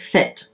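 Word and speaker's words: Fête: There's an F-E, and then there is a accent on the second E, on the first E, so if you think I'm pronouncing it wrong, it's Fit, like fate. I mean, well, it's like a holiday event, a fate.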